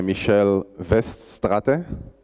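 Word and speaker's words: Michel Weststrate: mo bik's is a library written by a michele vest Stata that's how you pronounce his name from mendax he was actually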